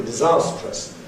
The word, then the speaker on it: disastrous: It's categorically compressed for disastrous. But awareness of the morphology, that it's made of disaster plus us, seems to be sufficiently strong where some people pronounce it sometimes in an uncompressed way.